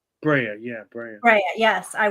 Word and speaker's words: Brea: Bria Bri is that how you say it Brea Brea yeah Brea bre yes I went to and